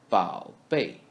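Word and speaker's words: 宝贝: For example, 宝贝. 宝 is read as the first syllable of the word 宝 in the third tone.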